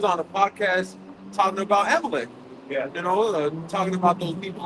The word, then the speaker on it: Amalek: Amalek. You gotta say it like a Yiddish, Amalek. It's not Amalek, it's Amalek. Yeah, I'm just making fun of it. That's the Yiddish version.